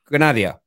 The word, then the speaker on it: Granada: united ac milan and is it pronounced uh grenadia granada grenada you know like granada studios okay cool granada yeah they're who he